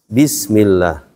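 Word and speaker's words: بسم الله: Ini yang tadinya domah berubah jadi kasroh dia, karena ada huruf ba, huruf jar. Baca gimana? Bismillah.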